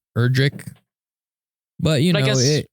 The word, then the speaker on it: Erdrick: It's actually like Erdrick, not necessarily Edric. It's Erdrick.